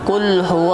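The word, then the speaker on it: قل: kok dan huruf k Nah makanya dalam surat al-ikhlas kita membacanya kulhu allohu ahad bukan cool bukan huruf Cup karena apabila tertukar ini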